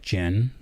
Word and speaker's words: Jen: So, my wife, who I adore, her name is Jen. Sounds like Jen, like the drink, but it's spelled with a J.